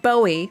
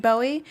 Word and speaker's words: Bowie: Well, it's spelled Bowie, like as in David Bowie. And people who are not from Maryland are always like, oh, I'm going to Bowie, Maryland. And I'm like, do you mean Bowie? But it's not spelled like that, so it confuses people.